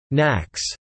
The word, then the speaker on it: NAAQS: The National Ambient Air Quality Standards NAAQS, pronounced NACS.